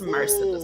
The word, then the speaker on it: Mercedes: But it's Mercedes. And it's beautiful the way my parents decided to pronounce it.